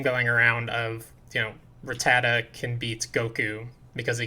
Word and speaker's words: Rattata: good i'm sorry everybody this pokemon is one of the most mispronounced pokemon of all time rattata yeah a lot of people say ratata yeah or ratatat i hate when they end it with a t because clearly it ends with an a uh yeah